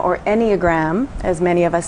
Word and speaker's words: Enneagram: So, you know, what we're talking about is the Enneagram. Yes. Is that the proper way to pronounce it?